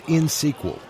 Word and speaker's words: InXSQL: Harry, it's InSQL, INXSQL. You don't pronounce the X.